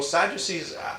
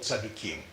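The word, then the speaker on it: צדוקים: You know, if you think of it, that you hear that Sadducee is a Greek way of pronouncing it. In Hebrew, they're called Tzadukim.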